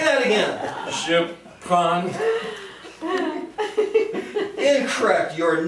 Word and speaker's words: prends: You said NDS. What happened to those letters when you're conjugating the verb? You don't pronounce them. You don't pronounce them? Why not? Because it's French.